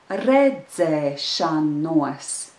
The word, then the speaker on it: redzēšanos: Redzēšanos. The first syllable is stressed because in Latvian, in most cases, the first syllable is stressed. But like I taught you before, you can put a small stress on the third syllable, if that makes it easier for you.